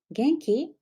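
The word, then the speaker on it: 元気: in Japanese Genki Genki raise your pronunciation up in the end Genki say Genki how do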